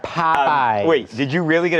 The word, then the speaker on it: Popeyes: Popeyes. You put the wrong emphasis on the wrong syllable there. Popeyes.